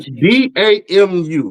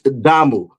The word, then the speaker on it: damu: so many years, but decided to mispronounce it. See, DAMU, right? How would you say that? B-A-M-U. B as in Delta. Yep. A as in Alpha. M as in Mike. U as in uniform.